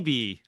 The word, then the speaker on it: Wibee: So this YB, that's how you say it, YB, right? Weeby. Yeah, we say Weebee.